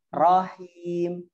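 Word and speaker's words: الرحيم: Jadi hati-hati di huruf ro ketika bersambung sama ha-nya ya Ummu Bilal ya. Jadi seperti ini nih, tadi bacanya seperti ini, salah. Bismillahirrahmanirrahim. Seakan-akan ha yang kedua itu ada sukunnya. Dia nggak ada sukun.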